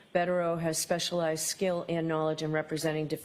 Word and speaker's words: Bederow: because Mr bero had is that how you pronounce his name yes bero has specialized skill and